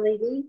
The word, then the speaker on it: Levi: Ruben was first born what about Shimon or Simeon as you say and levie or leevy Levi how you pronounce it these are verses